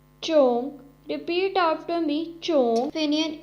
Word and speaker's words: zhong: The next Pinyin is ZHONG, has a pronunciation of chong, chong.